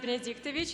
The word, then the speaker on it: Benedictovich: My last name is pronounced Benedictovich, and I know it's a hard one.